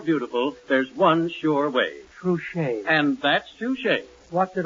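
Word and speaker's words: Trushay: Trouche.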